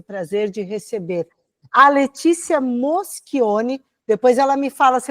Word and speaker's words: Moschioni: Você pronunciou corretamente Moschioni.